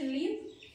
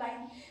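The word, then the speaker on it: live: একটা হচ্ছে লিভ মানে বসবাস করা, একটা লাইভ মানে হচ্ছে কোনো একটা লাইভ পারফরমেন্স দেখা। দুটোর উচ্চারণ কিন্তু আলাদা, কিন্তু স্পেলিংটা কি হচ্ছে সেম হচ্ছে, আবার মিনিংটাও আলাদা।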